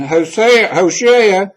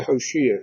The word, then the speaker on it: Hoshea: I'm not sure which the pronunciation is. I'm going to say Hoshea because that's the way it's written here.